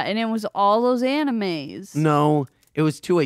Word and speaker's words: anime: very sick Nicole hey remember when your stepmom pronounced anime anim is that Anaheim and what is that